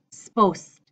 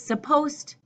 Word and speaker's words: supposed: plan a future plan the really bad pronunciation it's all squished together and I hear people say sposed sposta supposed it's both and usually this is supposed supposed supposed to and